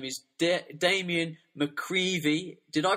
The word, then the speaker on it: McGreevy: His name is Damien McGreevy. Did I pronounce that right, Damien? Yeah, Damien McGreevy, yeah.